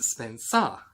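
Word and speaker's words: Spensa: interesting point about that i thought her name was spencer but it's not it is spelled s-p-e-n-s-a so it is spencer in this case so spencer is a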